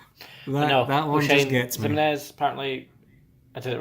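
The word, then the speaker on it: Ximines: Sam O'Shane Zimenez. Not Ximenez or whatever.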